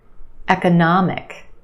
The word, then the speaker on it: economic: We've got 4 syllables. The third syllable is your stressed syllable, na, the ah sound, economic. And we have a schwa in the second syllable, ka, ka, eka, eka, economic.